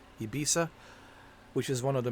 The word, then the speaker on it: Ibiza: December 24th we have Ibiza or ebiza that's how you say it ibisa ibisa which is one of